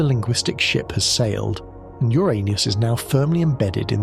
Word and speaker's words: Uranus: displacement, but the name Uranus in English is associated with a persistent problem, or rather, an endless source of schoolyard jokes. Its pronunciation is, unfortunately, very similar to the phrase, your anus.